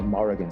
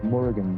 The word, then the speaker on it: Morrigan: Yeah, they might call her Morrigan. Some people call her Murugan is how it's pronounced.